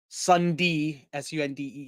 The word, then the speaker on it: Sunday: We've decided to name it the Sunday Sundee, not Sunday, Sunday, because we're from Pittsburgh and that's how we pronounce it here.